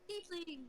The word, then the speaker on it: tiefling: Tiefling. Yeah, tiefling. Tiefling, yes. Think of the word leafling, but it's Tiefling.